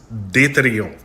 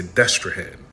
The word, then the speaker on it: Destrehan: just heard it in French and Creole, it's pronounced deton. And we know this from various historical records where we see alternative spellings of the name like these three. And of course in English most people say Destraan.